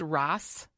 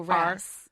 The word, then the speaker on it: Ras: Tell me about, is it pronounced Ross? Ras? Oh, Ras. Yeah. A-S-S? Ras.